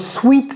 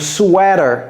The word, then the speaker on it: sweater: Mais si vous pensez que le e a se prononce sweite ici ce n'est pas correct. C'est sweat. Donc sweater.